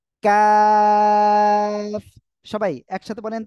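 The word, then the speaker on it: ق: ওকে এই যে অক্ষরটা এই অক্ষরটা হলো কাফ জিহ্বার গোড়া গোড়া থেকে একটুখানি আগে বাড়াবেন বাড়িয়ে এই অক্ষরটা উচ্চারণ করতে হবে কাফ সবাই একসাথে বলেন তো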